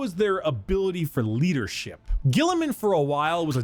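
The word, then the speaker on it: Guilliman: Yeah, Gilliman. That's how it's said.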